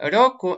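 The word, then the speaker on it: 六: Рёку, это у нас шесть. Шесть, рёку. А рисуется она еще проще. Это она так произносится, рёку, а пишется она еще проще, вот так вот.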